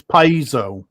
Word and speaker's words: piezo: wasn't it they're they're they're giving a little bit longer e i say piezo oh so i'm i'm missing the e apparently it's piezo okay most military rocket